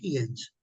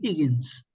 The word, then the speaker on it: Higgins: transformada por el profesor Henry Higens, perdón por la pronunciación, diría Henry Higgins.